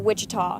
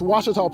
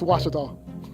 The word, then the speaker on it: Ouachita: Back in Texas, everybody pronounces it Wichita, but really, it's Ouachita. Ouachita. Washita. How would you pronounce it? Ouachita. Ouachita. It's Ouachita Baptist University. Get it right. It's Washita, people. It's Washita.